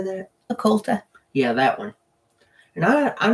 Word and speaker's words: occulta: But Hank Williams Sr., I did not know that he had the spina bifida occult. How do you say that? Occulta.